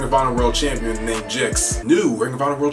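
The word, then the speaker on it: Gixx: One, I believe you pronounce it as Jix, like what rhymes with trail mix.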